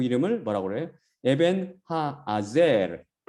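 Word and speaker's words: אבן העזר: 에벤 하아젤. 그 히브리어로 그대로 발음하면 그걸 에벤에셀이라고 우리 지금 영어 성경도 그렇고 한글 성경도 그렇고 심지어 70인역 셉트아진타에서도 이렇게 번역했더라고요.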